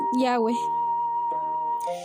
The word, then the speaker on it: Yahweh: con las cuatro letras que se escriben de derecha a izquierda en hebreo, YH, que se pronuncian Yahweh.